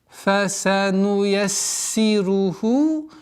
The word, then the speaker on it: فَسَنُيَسِّرُهُ: Не торопясь, потому что син здесь фа с фрикативностью, син со свойством свист, свистящие звуки, поэтому нужно досконально произносить все свойства. Фасануяссиру, фасануяссируху, удваиваем, кясра, ра, ха, и обратите внимание на этот естественный соединительную долготу в размере двух огласовок.